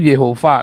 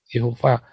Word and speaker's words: Yehova: Ngomong Yahweh itu salah. Yang betul tuh Yehova. Nanti diajarin di kelas evangelis. Ya, cara bacanya yang benar. Bukan Yahweh, Yehova.